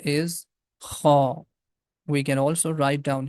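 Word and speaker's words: خاء: The name of this letter is Kha. We can also write down here Kha. Kha. This sound is coming out from the beginning of the throat.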